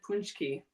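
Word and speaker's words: pączki: that never they're SP it's spelled p a c zsk Ki or something but it said it said punchki I don't think I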